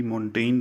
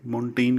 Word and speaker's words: Montaigne: वाला था मिशेल दी मोंटेग्न था वह जो आप कहोगे कि मोंटेग्ने है यह मेंटेन क्यों कह रही हैं चलिए यहां पर जी साइलेंट है दूसरा एक आसान क्वेश्चन